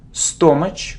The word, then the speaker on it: stomach: It isn't stomach or stomach. It's like butt. Stomach. Stomach.